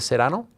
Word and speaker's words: Serrano: Wow, let's roll our R's a little bit, and you're there.